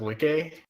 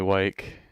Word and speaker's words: Wike: I am Wicked Awesome, and It's pronounced Wiki. Dang. people call me Wyke because that's what it looks like to them.